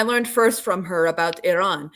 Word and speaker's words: Iran: Um, and if you want to learn how to pronounce Iran, you have to kind of click your tongue a little bit. It's Iran.